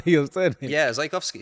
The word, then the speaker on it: Zajkowski: Yeah, Zajkowski.